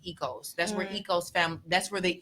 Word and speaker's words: Oikos: There's yogurt called Ecos, so Oikos. That's pronounced Ecos.